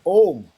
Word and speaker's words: Om: So Om is said like this. Ah, oo, right?